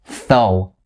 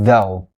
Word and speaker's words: though: know that is a voiced consonant is not voiceless so don't say tho so is not correct so though though though and if any of